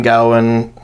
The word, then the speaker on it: Gawain: Gawain. Gowan. I was always top Gawain. Yeah. Same here, yeah. Right. I never heard it pronounced Garwin, but anyway.